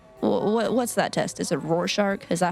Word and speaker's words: Rorschach: Is it Rorschach? Is that how you say it? Rorschach.